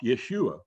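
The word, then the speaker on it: Iesus: it's pronounced it's a it's a greek word it's pronounced yeshua but then as later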